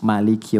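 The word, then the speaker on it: مَالِكِ: Jadi kalau teman-teman pernah dengar Maliki yaumiddin itu bisa dibaca dengan dua cara. Ini informasi saja. Bisa maknya pendek bisa panjang. Jadi ada riwayat yang pendek ada riwayat panjang.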